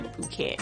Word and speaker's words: Phuket: But, you know, it's not pronounced myself where it's actually Phuket.